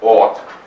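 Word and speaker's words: אות: It's spelled A-F-T, pronounced ought.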